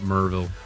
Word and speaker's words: Maryville: to get replaced I'm pretty sure they pronounce it merville merville we will see what